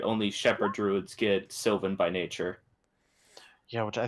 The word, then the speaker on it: Sylvan: Sylvan or Slyvan, depending on how you want to pronounce it, because some people pronounce it Slyvan for some reason.